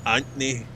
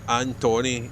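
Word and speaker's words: Antony: name my name's anthony it's not tony but people call me tony it's not anthony it's not anthony it's not anthony it's antoni a n when a-n-t-o-n-y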